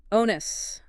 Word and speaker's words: onus: Onus.